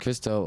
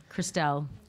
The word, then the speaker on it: Christelle: And Crystal Ulrich, is that pronounced correctly? Christelle.